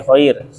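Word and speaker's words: خير: Berikutnya, khair yang tebal tipis nih, khair. Rumus. Ro sukun sebelumnya ya sukun sebelumnya fathah, berarti dibaca tipis.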